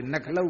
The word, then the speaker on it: लखनऊ: ब्रजवासी लखनऊ नहीं बोलते, नखलऊ बोलते हैं।